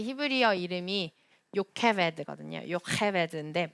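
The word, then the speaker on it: יוכבד: 요케베드인데 발음하기로는 이 요케베드의 케베드가 요게벳, 케베드가 영광이란 뜻이에요.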